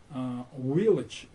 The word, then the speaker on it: village: когда Ургант произносит слово «village», и он произносит им вот так вот «village», а Познер управляет «village». Вот надо понять следующее. Слово начинается с буквы V, и нужно читать четкое V, V.